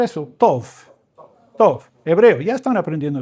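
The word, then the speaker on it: טוב: Cuando dice Tov, ¿pueden pronunciar eso? Tov.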